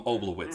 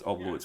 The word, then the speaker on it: Oblowitz: The V sounds like RF and the W sounds like RV. That there's a yeah. I'm pretty sure they are 20. So Yeah. I think that they might just pronounce it as a W.